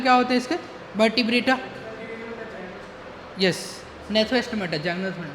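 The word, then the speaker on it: Gnathostomata: फिर इसके कॉर्डेटा तो बिल्कुल सब फाइलम क्या होते इसका वर्टब्रेटा यस नेथोस्टमेटा नेथो बोलते हैं वहां पे जी हां जी साइलेंट होती है वहां पे ठीक है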